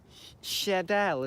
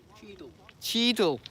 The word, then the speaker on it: Cheadle: Oh no, it's just over Sheadle. Is that how you pronounce it? S-H-E-A-D-L-E. S-H-E-A-D-L-E. Cheadle. Sheadle. Cheadle. It's over Cheadle.